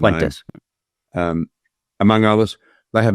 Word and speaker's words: Fuentes: I think of people like Candace Owens, Nick Fuentes, I don't know how you pronounce his name. Fuentes.